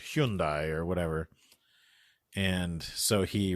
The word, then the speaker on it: Hyundai: Yeah, it rhymes with Sunday.